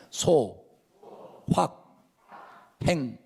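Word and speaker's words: 소확행: 하기 시리가 아니고 에 발음을 잘해야 되요 다시 합니다 소 확 행 소화 평 이란 말은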